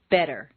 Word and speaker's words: better: Just as you don't say the T in listen, the double T in better is pronounced D. Better.